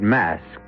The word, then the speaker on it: masque: The word mask, you should know, is spelled M-A-S-Q-U-E and means masquerade. And to begin this particular